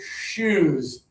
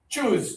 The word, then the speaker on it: shoes: A lot of Spanish speakers would say, "Choose. Choose. I need to change my shoes in order to play the sports." Right? No, no, no. It's sh shoes. So, you just got to breathe a little bit at the beginning of it to say shoes.